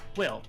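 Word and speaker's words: Wyll: So he heads back into the ship, leaving you alone with Will, whose name is spelled W-Y-L-L.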